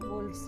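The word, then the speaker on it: wolves: इसमें एल को साइलेंट नहीं करेंगे, वोव्स नहीं होगा, वोल्व्स रहेगा।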